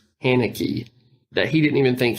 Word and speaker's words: Haneke: I was reading that the guy who created this, I think his name is pronounced Haneke, that he didn't even think he was making a horror film.